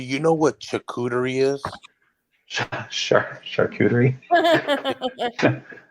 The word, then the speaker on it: charcuterie: Isn't it like a we're all saying it wrong. It's like it's not like charcuterie, like you're saying cooterie. It's like coo. You have to like do a QTRR, and I can't roll my R's.